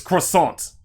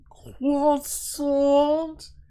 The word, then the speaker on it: croissant: hear Kall Weezer say croissant. It's croissant. Croissant. It's croissant. I'm good. I'm good. But that's how you say it, croissant. It's not croissant.